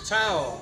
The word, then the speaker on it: ciao: Ciao.